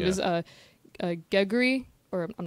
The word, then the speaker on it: Geguri: She just said a foreign team, and her name is Geguri, or I'm not sure how you say it. It's Geguri.